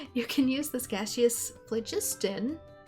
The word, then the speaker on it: phlogiston: Geothermal vents periodically release gaseous, I can speak, phlogiston. Good gracious. You can use this gaseous phlogiston.